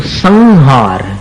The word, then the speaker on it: संहार: इसी प्रकार संहार संहार शब्द सुना आपने तो संहार का उच्चारण कैसा है म जैसा तो नहीं है ना तो संहार ये उच्चारण हो गया तो इससे